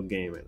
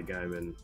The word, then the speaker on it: Gaiman: yeah uh gaming neil gaiman i will do my best to never say guy man ever again unless pronouncing somebody else's name